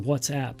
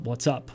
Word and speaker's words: WhatsApp: and by the way it's pronounced whatsapp not what's up what's up means hello